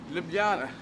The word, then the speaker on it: Ljubljana: I start by saying am I pronouncing libyana correctly you are pronouncing it correctly but actually you said